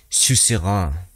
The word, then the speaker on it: suzerain: di cuenta que era una palabra francesa que significa soberano, que creo que se pronuncia Sus Rein, sería el nombre de la canción.